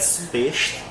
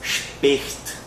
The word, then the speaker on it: Specht: I always said Specht, as I said now in the beginning of the interview, but the correct is Specht, something like that.